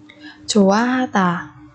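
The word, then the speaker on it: 좋아하다: Chủ a ha tà.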